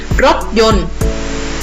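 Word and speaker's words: รถยนต์: ไหม คะ ต่อ ไป รถ ยนต์ ใช้ ตัว ต่อ เต่า กัน นะ คะ จะ ไม่ ต้อง ออก เสียง ตอบ นะ คะ ทำ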